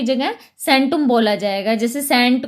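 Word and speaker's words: centum: परंतु आधुनिक भाषाओं में सी के लिए स का उच्चारण करते हैं। जैसे अब इसमें लैटिन में जो सेंटुम है तो हम इसको जब लिखते हैं लैटिन में तो इसको कैसे लिखेंगे, कैंटुम लिखा जाता है।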